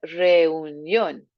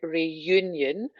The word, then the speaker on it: reunión: Watching that word reunión, not to make it sound like reunion. So a nice reunión. Try not even to make your tongue hit the top of your mouth there. Accent on the O as well.